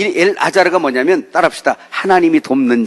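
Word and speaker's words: אלעזר: 자, 나사로라는 이야기를 히브리어로 말하면 엘 아자르, 알렙, 그 다음에 라메드 이렇게 씁니다.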